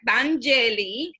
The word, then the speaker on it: Danyeli: Let's pronounce this correct. Danyeli is a Dominican Bronx community organizer, a writer, a spoken word performer.